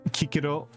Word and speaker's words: Cicero: philosophy I mentioned Titus lius earlier Livy um Kiko I I hate that his name is supposed to be pronounced Kiko I want to pronounce it Cicero sounds better yeah politics incest if e uh